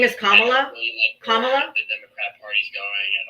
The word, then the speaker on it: Kamala: I'll unmute you in a second, but her name is Kamla. If you can't say her name properly, then you're gonna have say Harris.